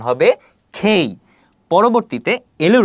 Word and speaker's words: K: এর সঠিক উচ্চারণ কি হবে কে এর সঠিক উচ্চারণ হবে খেই পরবর্তীতে এলর উচ্চারণ দেওয়া আছে এল এল এম